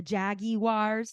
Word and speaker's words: Jaguar: Range Rovers and the Jaguars she says Jaguar like the Brits do um yeah that's I